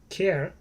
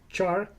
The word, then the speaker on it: char: And he says char is usually pronounced as char, not care, as you would expect.